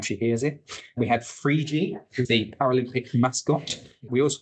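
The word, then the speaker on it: Phryge: We had Frigi, the Paralympic mascot. We also had snooze, and Frigi is spelled P-H-R-I-G-E, and snooze is spelled S-N-U-S.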